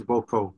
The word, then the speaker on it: Boco: and it's corrupted form I'm not sure if I'm pronouncing that correctly Boco yeah it's Boco so um the main